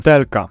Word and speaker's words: TLK: First option, TLK. That's how we pronounce this abbreviation.